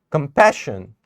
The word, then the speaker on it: compassion: Compassion. Now where are we going to put our stress? Over here. We'll say compassion. So the focus is on the second syllable over here.